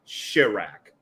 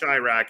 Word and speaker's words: Chiraq: technically I mean technically since it's you know a play on Chicago it should be Shirak but yes which is